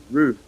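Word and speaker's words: Ryu: and Ken from Street Fighter his name is R is actually pronounced Ru if it's pronounced like T hu you know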